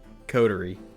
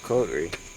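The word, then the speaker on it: coterie: It is pronounced as cod. Codory. Oh, codery. What a codery.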